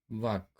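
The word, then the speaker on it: walk: तो आगे देखते हैं अब के से पहले, यहाँ के से पहले भी यल आया हुआ है, तो इसको भी हम यल का उच्चारण नहीं करेंगे। जैसे टाक, वाक, चाक।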